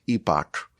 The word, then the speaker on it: epoch: The next epoch, it's actually pronounced epic.